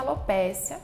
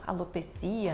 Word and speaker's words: alopecia: gente sabe que a alopécia quer dizer queda de cabelo alopecia né algumas pessoas pronunciam dessa forma quando a gente fala